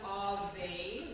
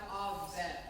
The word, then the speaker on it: Ave: We say it like that because we've anglicized it or westernized it or, Canadianized it, if you will. But we don't actually have 2 sounds on Ave, we have Ave.